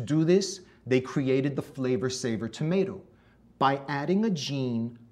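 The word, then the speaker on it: Flavr Savr: That's spelled F-L-A-V-R S-A-V-R, Flavor Saver.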